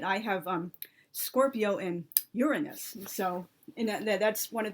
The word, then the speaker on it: Uranus: um shark I have I'm hopefully I'm going to pronounce this though a so-called correct way Uranus like they put the like stress on the first syllable of the the one